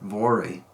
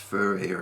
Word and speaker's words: Voere: United States and elsewhere, a lot of people pronounce that Voere. And whenever people from Germany hear that, they correct the pronunciation and say it should be pronounced Voere or something like that.